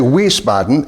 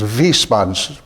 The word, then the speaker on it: Wiesbaden: this okay so Wiesbaden the sound of the W is a v so when I don't say we spotten is V spots with the V that's how you say it I feel crazy if